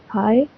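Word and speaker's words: high: next बात करते हैं द हाय जी H silent रहेगा ह आई हाय माउंटेंस माउंट ट का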